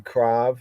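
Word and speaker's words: קרב: So here we have the krab like krav. Modern Hebrew would be krav. They'll pronounce it as krav, krab, krab, krav, krav, krab, krav, krav, krav, right? Like krav maga.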